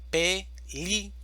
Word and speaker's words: película: Película, división silábica. Película. Sílaba tónica. Li. Película.